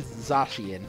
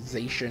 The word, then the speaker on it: Zacian: Like, they've said Zacian, but people go around saying Zacian anyway.